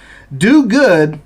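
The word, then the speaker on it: DooGood: Do good, it's spelled D-O-O, like doo-doo.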